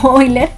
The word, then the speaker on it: Euler: Sus maestros le van a decir Euler, recuerden que se pronuncia Euler.